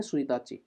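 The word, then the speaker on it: ついたち: साथ आ रहा है तो हम यहां पे सुईताची बोलेंगे इसको प्रोनाउंसिएट करेंगे सुताची ठीक है सुताची होती है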